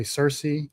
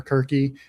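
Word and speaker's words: Circe: They got a white woman to play Cersei or Kirky, depending on which language you're pronouncing in.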